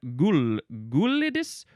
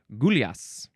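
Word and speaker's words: gulyás: Okay, this word is from the Hungarian gulids. No, that's an A. Gulyas.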